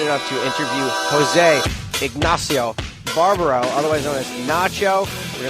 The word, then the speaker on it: Barbaro: How do you pronounce it? Barbaro. Yeah. Did I say it right? Barbaro. Okay, Barbaro.